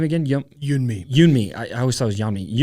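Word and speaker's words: Yeonmi: And how do you pronounce her name again? Yunmi.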